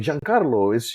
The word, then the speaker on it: Giancarlo: It was the first time I had heard my name being pronounced properly. That's awesome. And they were like, Giancarlo, are you Italian?